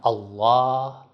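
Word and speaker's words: الله: Par exemple, Allah, l'âme dans Allah se prononce de manière emphatique.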